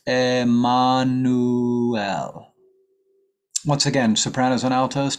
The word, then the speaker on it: Emmanuel: So in English we say Emmanuel. In Spanish it's Emmanuel.